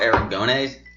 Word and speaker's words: Aragonés: But they also have Sergio Aragonés. Yes.